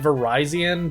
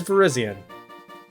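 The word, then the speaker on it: Virizion: and swiftly cuts opponents a lot of people try to pronounce it verizon but i hate that pronunciation verizon just sounds right to me so this is verizion all right that's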